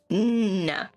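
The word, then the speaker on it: ん: And it is pronounced as N. It's just an N. N. Technically, it's double N, but yeah.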